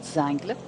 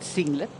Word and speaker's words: Zingler: That's why you pronounce his name in a German way, and not Zangler, but Zingler.